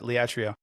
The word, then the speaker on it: Liatrio: The authors told their stories in a fictional way, but from my understanding, you and Liatrio, I'm pronouncing it right, Liatrio, right? You got it, Liatrio.